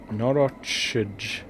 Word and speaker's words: Norochij: Norochij. I'm gonna choose to pronounce the J there like a Y and say Norochi.